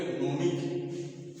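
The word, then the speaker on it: gnome: क जैसे अब ये अगर जी पहले है और बाद में है तो ये उच्चारण नहीं होता इसको बोलेंगे नोम इसको बोलेंगे नोम और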